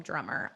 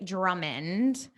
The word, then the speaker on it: Drummond: Okay, so Andre Drummond, I always mispronounce his name. I always want to call him Drummer. Andre Drummond Mm-hmm.